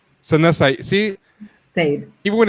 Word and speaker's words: Saeed: We are here with I'm not sure I pronounced your name right. Isana Saeed, proper way. Saeed. Sana Saeed.